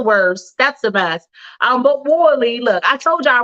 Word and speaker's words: Worley: Richard Worley. So what, you don't pronounce the S? According to his LinkedIn page, there is no S. It's WORLEY.